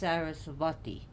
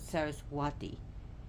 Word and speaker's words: Sarasvati: Either way, like the goddess Sarasvati, you could pronounce it Saraswati. Either way is fine.